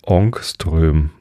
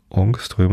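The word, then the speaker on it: Ångström: schwedischen Physiker andersch Jonas onströ ich glaube das a mit dem Kringel oben drauf wird o ausgesprochenström so ähm ein ohungströmen sind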